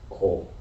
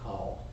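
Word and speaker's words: כֹּל: The key word in the Torah's explanation, repeated some 25 times in chapter 35 alone, is the Hebrew word kol. Sometimes pronounced kal.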